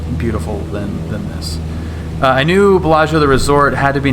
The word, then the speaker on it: Bellagio: It's usually the preceding vowel, the preceding I after a consonant, either G or C, is not pronounced. So even though you'd probably say Bellagio, it's actually pronounced Bellagio.